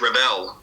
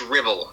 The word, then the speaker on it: Revell: I remember there was a few Americans and British, God bless them, they were pronouncing it Josh Revell. I know it's how it's spelled, but not quite there. But yep, Josh Revell. That's how it's said. I think Rebel like Rebel. Yeah, I think we have like some chocolate sweet over here, Revels.